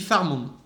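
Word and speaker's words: Pharamond: Même ça se dit Farmonde. Faramonde. Parce que normalement, ça s'écrit avec un F. Je sais pas pourquoi ils ont foutu PH.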